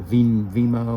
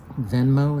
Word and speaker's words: Venmo: onto a card, or a Vimo, or Venmo, is how you say that, or into your PayPal